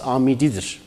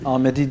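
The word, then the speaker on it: Âmidî: sayıda bilim adamının künyesi Amidi'dir. Yani Ahmedi değil, Amidi'dir. Evet, Ahmedi değil, Ahmedi'dir. Dolayısıyla buradan bunu rahatlıkla söyleyebiliriz. Ama halk arasında bir Ahmet şeklinde bir telaffuz var. Yani o şekilde okunmak da mümkündür.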